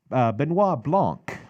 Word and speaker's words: Benoit Blanc: to pronounce his name Benoit Blanc Benoit Blanc and you know the reason why probably know how to remember how to pronounce it's because of Chris Benoit so rest in peace